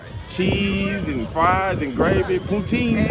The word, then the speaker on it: poutine: I've been eating cheese and fries and gravy, poutine. It's a poutine. Poutine, is that how you call it? Poutine? Poutine, yeah.